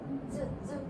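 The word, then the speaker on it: つ: 쯔. 요 발음 너무 이것저것 말썽이네요. 한국어의 치읓 발음은 아닌 거. 치읓하고 된 발음, 쌍지읒 발음이 중간 발음. 그래서 츠보다는 조금 강하게 발음이 쯔 하셔야 되고 하행은 숨을 그냥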